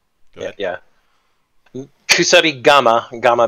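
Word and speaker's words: kusarigama: Kusari Gama being comma with a breathed syllable.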